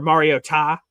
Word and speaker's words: Mariota: People brought up Mariota, I guess, or Mariota to pronounce his name properly, apparently.